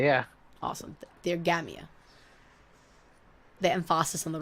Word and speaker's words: Theogamia: Theogamia, yeah. Awesome. Theogamia. The emphasis on the wrong syllable, as is my constant problem.